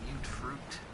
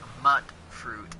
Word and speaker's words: Mute fruit: Wild mute fruit. No, it's not mutt fruit. It's mute fruit. And they even say so because that's how they pronounce it in-game.